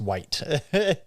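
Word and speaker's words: wight: yeah yes you're right I think it's pronounced white w-i-g-h-t but yeah like you're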